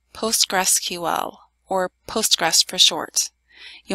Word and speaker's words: PostgreSQL: we're going to be installing Centel s7 and PostgreSQL 9.4 there will not be any ads in this video a quick word about pronunciation it is pronounced PostgreSQL or Postgres for short you only need to